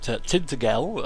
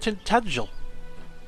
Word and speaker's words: Tintagel: I was calling it Tintagel, obviously phonetically that's how it's spelt, but it's actually pronounced Tintagel, or at least according